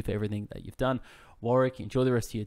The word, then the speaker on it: Warwick: on uh linkedin under warwick fairfax as australians will know uh warwick with the silent w nobody knows that in america i get warwick all the time but what are